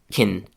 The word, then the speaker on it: can: It has three sounds. The first is C and the last is n. The sound that is interesting for us though is the vowel in the middle of the word. It's something between the i in fish or big and the h sound at the end of table.